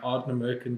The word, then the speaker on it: Ardnamurchan: Today we are sitting with another whiskey legend, Connal Mackenzie from the Ardnamurchan Distillery. Well pronounced.